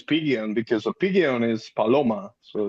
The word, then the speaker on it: Palomo: I It's Paloma like a Paloma.